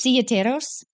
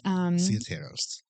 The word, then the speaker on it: Silleteros: Can you pronounce it? I can't. What? I was waiting. I can't. It's Ciateros. It's Ciateros.